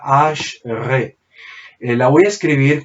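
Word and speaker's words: אשרי: que se dice o que suena como está acá, Ash-Re.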